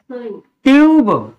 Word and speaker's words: tube: शब्द में लास्ट अक्षर अगर ई होता है तो उसमें हम कभी भी उसका उच्चारण नहीं करते जैसे ट्यूब ट्यूब को हम क्या पढ़ेंगे ट्यूब इसको हम क्या पढ़ेंगे ट्यूब टी यू बी ई ट्यूब टी यू एन ई